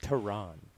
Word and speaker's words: Taran: gets choked out yeah he's just punching it's pronounced terran ah oh yeah my bad i had to